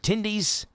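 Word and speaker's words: Tendys: It's fun to say, but they're even more fun to eat, especially since Tindy's rhymes with Wendy's.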